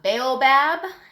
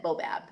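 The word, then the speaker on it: baobab: of funny to say sometimes people say it's a bale Bab and other people pronounce it bow Bab and I think that's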